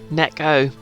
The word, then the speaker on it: neko: talking about pal you just admitted to it necco japanese for cats all right i said neko before but i assumed when you said nico